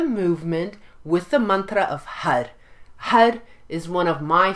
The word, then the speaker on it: Har: you change the Mantra it's spelled h-a-r but it sounds a little bit more like h-u-d because as you champ